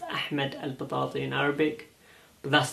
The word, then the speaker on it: Ahmed al Batati: My name is Ahmed al Batati, pronounced Ahmed al Batati in Arabic, but that's not what's important.